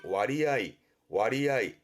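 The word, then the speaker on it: 割合: 그래서 서로 나눠진 부분을 의미하다 보니 음독이 아니라 뜻으로 무슨 얘기냐면 분할의 분가스라든가 할애의 가츠아이처럼 음독으로 가지 않고 서로 나눴다는 의미이기 때문에 뜻으로 읽습니다. 그래서 발음이 와리아이.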